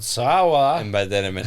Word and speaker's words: Saola: It's called Saula. And by that I meant, how do you spell it?